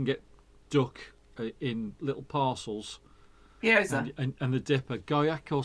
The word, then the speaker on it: Gyoza: a couple of, I don't know how you pronounce them, like that you can get duck in little parcels. Gyoza. And the dipper, goyak or something like that. Gyoza.